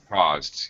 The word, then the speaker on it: caused: uh okay Anna um pronunciation caused caused get the g g caused yes after the ZZ sound in a past tense verb the D will just sound like a an immediate D caused there you go